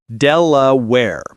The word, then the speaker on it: Delaware: Delaware. Stress on Dell. The ending where rhymes with care.